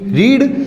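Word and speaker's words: read: उसके बाद बी रीड। रीड की तीनों फॉर्म एक जैसी होती हैं, रीड रेड रीड।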